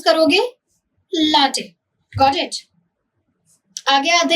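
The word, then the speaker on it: latte: कैसे प्रोनाउंस करोगे? लाटे, गॉट इट।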